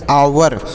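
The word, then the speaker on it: hour: सर इसे क्या पढ़ेंगे यहां पर जो एच है य साइलेंट है मतलब इसे नहीं पढ़ेंगे तो इसे क्या पढ़ेंगे इसे पढ़ेंगे आवर ओ यू आर इसे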